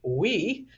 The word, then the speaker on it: Ve: Now, actually, in Norwegian, V is pronounced as W, so it's Farm We.